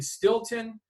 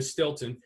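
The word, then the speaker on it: Steelton: a show in in Stilton it's uh it's spelled steel ton uh Pennsylvania Stilton and on a Wednesday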